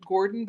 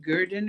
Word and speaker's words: Gordon: So we're from a place called it's not Gordon. I think a lot of people pronounce it Gordon, but it's like Gurdon or something like that, Wisconsin.